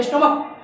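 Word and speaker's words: stomach: पहला दिया है मोनार्क, मैंने इस लास्ट वाले को च नहीं क पढ़ा, और यह भी है स्टोमक, ये भी क पढ़ते हैं, च नहीं पढ़ते, स्टोमक।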